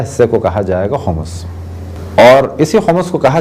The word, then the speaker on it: خمس: الطاہرین۔ موضوع گفتگو خمس۔ عام طور پہ خمس کہا جاتا ہے، لیکن جو صحیح تلفظ ہے وہ ہے خمس۔ اگر کسی چیز کو